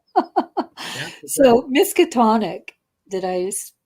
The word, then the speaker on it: Miskatonic: Yeah, so Miskatonic, did I pronounce that right?